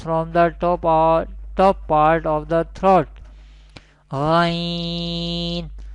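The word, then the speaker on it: ط: Its category is Nitya, and it will be pronounced from the tip of the tongue and the roots of the upper front teeth.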